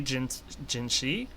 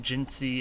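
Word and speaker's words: Jinhsi: It could be Jinshi, but considering her original name is C and Jin was added on to her name, I assume Jinsi is actually the way to pronounce her name.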